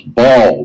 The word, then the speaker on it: Baal: The sun was referred to as Baal, B-A-L, Baal.